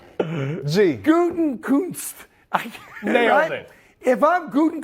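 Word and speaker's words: Gutekunst: And I always pronounce the guy's name wrong because it's a tough name to pronounce. Guten Shrink, whatever, right? I can't say, I got pie. It's Guten Kunst.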